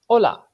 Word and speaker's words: hola: of you might know, hola. Hola is how you say hello in Spanish. One thing to pay attention to, the letter H does not make any sound. Pretend it's not there.